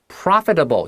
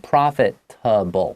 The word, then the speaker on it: profitable: Profitable 就是有利可图的，赚得到钱的，就是来自于 profit 好这个名词，再加上 able，但是它念成 profitable，不是 profitable 哈。